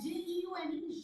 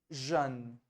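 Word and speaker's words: jeunes: and J-E-U-N-E, Jean. So both are Jean only. no? Yeah, Jean so G-E-N-S and J-E-U-N-S. Jean, jeune.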